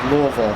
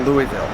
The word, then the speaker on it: Louisville: I'm with Richard McGinnis we are in Louisville Kentucky appropriately pronounced Louisville not Louisville for everybody we've been through this on the